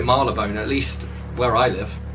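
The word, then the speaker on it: Marylebone: london called malabone road visitors from abroad often misread it as marley bone provincial britons tend to give it its full phonetic value mary le bone londoners are inclined to slur it to melbourne or something similar while those who live or work along it slurry even further something not far off now everyone calls it marla bone at least where i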